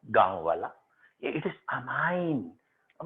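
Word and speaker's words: amine: नहीं है, तो इसलिए आप ये अब जबरदस्ती प्रोनाउंसिएशन में भैया कमी मत निकालना, कुछ कहते हैं इसे अमीन पढ़ रहा है गांव वाला, इट इज अमाइन, अब मैं तेरे मारूं अमाइन, ठीक है।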